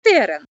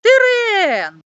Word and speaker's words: терен: в любові не знається ось таке слово терен що воно означає виявляється це рослина а Чи чули ви коли-небудь і таке слово терен наголос на останню е а що це А це територія бачите Ми поміняли наголос і від цього змінилося лексичне значення слова А щоб ви знали